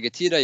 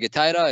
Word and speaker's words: GETIDA: The genesis of GETIDA. Let me backtrack and give some context about GETIDA itself. I pronounce it GETIDA. You can actually also pronounce it GETIDA.